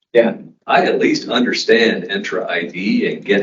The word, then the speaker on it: Entra: that's a good feedback people cannot pronounce entra I've seen people talk about entra and we have been thought um intra as in Nissan Sentra so so that's how people know it's intra Tom how many years